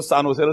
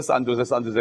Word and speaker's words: 산호세: J가 무슨 발음으로 나요? H 발음으로 나죠. 그거 잘 모르고 산호세를 산조세 그런 사람이 있다고.